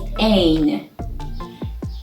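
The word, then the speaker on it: ع: The 21st letter is ain. Ain is pronounced as the glottal in the word stop.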